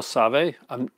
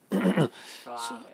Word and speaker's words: Soavi: Mikhail Save. Sove? How do you spell it? Soavi. He's Italian. Suave.